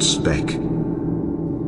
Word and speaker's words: Sebek: His name Sebek is the crocodile, originally pronounced Sbek.